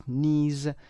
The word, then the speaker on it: knees: دقت داشته باشید در تلفظ K تلفظ نمیشه. بعضی از این کلماتی که با K و N شروع میشن مثل knowledge، مثل know دانستن و knee که زانو هست Kش تلفظ نمیشه.